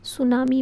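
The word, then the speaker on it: tsunami: T silent है। इसमें सुनामी भी कहते हैं।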